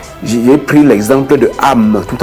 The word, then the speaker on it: âme: Et le A de ami, c'est ça qu'il ne faut pas. Il faut prononcer, ouvrir la bouche de façon arrondie comme ça.